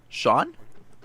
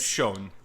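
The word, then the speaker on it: Schon: His name is spelled S-C-H-O-N. What's that name? Wait, What? spell it again? S-C-H-O-N. Sean? Damn it, yes. Shone. Oh, I just took a wild guess.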